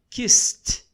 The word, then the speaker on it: kissed: Quando não vibra, você vai pronunciar como T. Então, work, worked. Kiss, kissed.